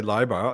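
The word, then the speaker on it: Leiber: pronunciation in America but since I learned to speak German IE is e and EI is I yeah so liar is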